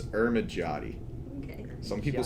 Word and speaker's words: Ermigiotti: It's Ermigiotti. Okay. Some people say Ermigiotti. Ermigiotti is incorrect also. It's Ermigiotti. I switch between it every so often because everyone tells me something different.